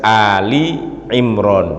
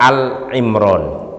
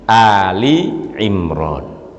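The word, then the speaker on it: Āli ʿImrān: dan mudhof ilaih ditolong Jangan sampai salah kita membacanya jadi Dalam tulisannya juga udah jelas Ali Imron bukan Al Imron sekali lagi Ali Imron Apa arti Ali Imron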